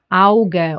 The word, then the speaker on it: Auge: Au. A and U gets pronounced as Au, like in Auge or Auch or Aus.